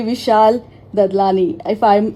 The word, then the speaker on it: Vishal Dadlani: It's an absolute pleasure to have you on Radio Naira, and this is one and only Vishal Dadlani. If I have pronounced it right, Vishalji.